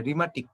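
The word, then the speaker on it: rheumatic: রিমাটিক, রিমাটিক বানানে RH আছে কিন্তু সেটার মধ্যে হচ্ছে তোমার কোনো এইচ এর উচ্চারণ নাই।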